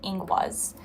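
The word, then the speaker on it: Ingwaz: And the rune you guys got is inguaz. And it's uh that's how it's pronounced. Um if you guys want to like look it up yourselves, it's i n g w a z, but it's pronounced inguaz.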